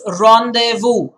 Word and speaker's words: rendezvous: word is not rendezvous don't go by the spelling again it's french in origin it's rendezvous what is it it's rendezvous i repeat it is ronde vu meaning a formal meeting